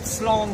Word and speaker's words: slán: Slán simply means goodbye.